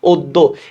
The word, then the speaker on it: অদ্য: কারণ দতে অ উচ্চারণ হচ্ছে না, তাহলে এখানে একটা আমরা হসন্ত দিলাম, অদ্য।